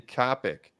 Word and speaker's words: Copic: pencil outline and then Coptic markers and some color hair and eyebrows topic there's no T in Copic or Copic I always said Copic markers all right